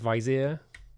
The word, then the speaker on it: vizier: Rhymes with beer, so like vizier.